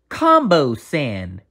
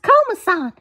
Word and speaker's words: Komasan: mate you're that uh combo sand correct uh it's pronounced komasan you are somewhat right